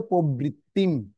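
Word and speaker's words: প্রবৃত্তিং: প্রবৃত্তিম। তারপর তো চ আছে। নিবৃত্তির পর একটা অনুষ্কার রয়েছে। সেজন্য কি হবে? নিবৃত্তিম। অনুস্কার উচ্চারণ কি হবে? ম উচ্চারণ হবে। অনুস্বার থাকলে ম উচ্চারণ হবে।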